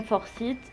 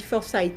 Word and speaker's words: Forsythe: Alors, on dit Forsythe en général. Mais bon, voilà, c'est une prononciation, c'est pas grave.